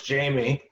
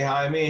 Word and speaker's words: Jaime: This I don't know if it's pronounced Jaime, like in its real sense, or is it Jamie? My mother says Jamie, Uh huh. but half of the people say Jaime, half of them say, Yeah.